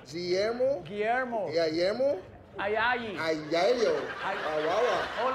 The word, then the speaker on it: Guillermo: Guillermo. Guillermo? Guillermo. Yeah, Guillermo?